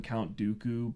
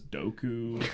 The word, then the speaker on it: Dooku: where like everyone calls him Count Dooku, but George Lucas says Doku, and like the Gungans are the Gungas.